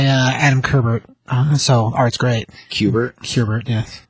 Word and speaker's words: Kubert: Kubert, yes. That's the right way to say it.